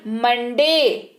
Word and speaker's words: Monday: फिर जैसे है MONDAY, मंडे। आपको न सुनाई दे रहा है?